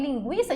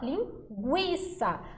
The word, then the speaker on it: linguiça: G tranquilo agora em linguiça a gente não fala linguiça a gente fala linguiça ou seja esse U aqui gente ele é pronunciado Então nesse caso Aqui